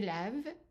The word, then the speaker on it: lave: And the E also is silent. So, je lave, we add in an E in writing, but it's not pronounced.